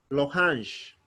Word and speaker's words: l'orange: So whenever you see a vowel in front of any letter, you omit E. You'll not say L-E. You'll just remain with L alone. So you'll say l'orange, L, comma, O-R-A-N-G-E.